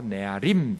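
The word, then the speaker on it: נערים: 우선 아이들이라는 단어 네아림이라는 말인데요, 원래 단수로 하면 나르예요. 나르를 복수형이 되면 히브리어는 뒤에 임이 붙거든요. 그래서 앞 발음이 약해지면서 네아림 된 거예요.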